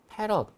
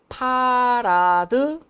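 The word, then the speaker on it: farad: f라고 읽고 힘 아니야. 단위일 때는 힘 아니에요. 이걸 패럿이라고 읽죠. 패럿 또는 파라드.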